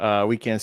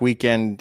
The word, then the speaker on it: WKND: Weekend spelled WKND. Yep. But on TikTok, Weekend, it's just said how it's spelled.